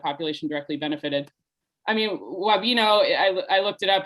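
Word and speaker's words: Wabeno: I want to pronounce it Wabino for some reason. It's Wabino.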